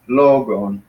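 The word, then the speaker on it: λόγον: So it's logon. Logon. So the accent is up here, logon.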